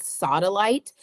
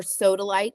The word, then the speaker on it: sodalite: want you to get a crystal called sodalite, or sodalite. Some people pronounce it Sodolite.